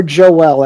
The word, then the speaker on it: Joel: Is it Joel or Joel? I want to make sure I get it right. Two syllable, four Joel, letter, got it.